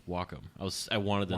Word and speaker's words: Wacom: I've asked the guys by the way it's pronounced Wacom I was I wanted to know yeah and